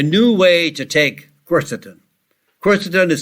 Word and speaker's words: quercetin: one way is to use quercetin.